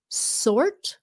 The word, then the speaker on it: sort: Cô ơi, cô giúp con cách đọc sort với là short. Sort. Sort. S sound. Sort. Là giống như chữ X của Việt Nam đó. Like ông xã. Sort. Sort. Còn short. S-H. Short.